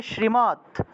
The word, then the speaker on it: শ্রী: করা হয়ে থাকে তাহলে শ্রীমত ভগবত ভগবত গীতা শ্রীমত ভগবত গীতা সবাই বুঝতে পেরেছেন শ্রীকৃষ্ণা শ্রী উচ্চারণটা হবে শ্রী আপনারা শ্রী বলে ফেলেন অনেকে শ্রী বলে সিরি হবে না এটা শ্রী শ্রী শ্রীমত শ্রীমত